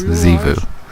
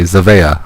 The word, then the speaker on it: Zivu: Yes, Zivu is how you pronounce the name.